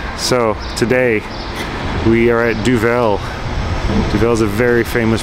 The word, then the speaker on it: Duvel: I've been saying it wrong. It's not Duvel, it's Duvel.